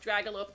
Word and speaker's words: Dragealope: It just has a D in front of it. Dragealope. It should be pronounced Dragalope, but Ragealope with a D.